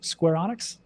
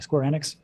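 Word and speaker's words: Square Enix: and now they just partnered up with square square onx I always say it wrong square enx and they're doing their nft project on that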